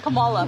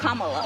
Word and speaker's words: Kamala: how to say her name earlier you said Kamala the way she pronounces her name is Kamala you don't work with her Reon see that